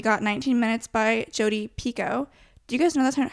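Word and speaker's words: Picoult: and so we got 19 minutes by Jody Pico do you guys know that how her last name is pronounced Pico and not picolt because I just learned that I watched a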